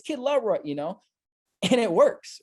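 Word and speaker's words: Kid LAROI: bait them to comment I literally just said kid Leroy right like I purposely mispronounced it because I know that when I do that I'm gonna get a bunch of people in the comment section going kid Leroy kid Leroy it's kid love Roy you know and it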